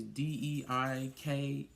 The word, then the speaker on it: Deika: And they're in a city called Dekia. I think that's how you say it. It's Deika.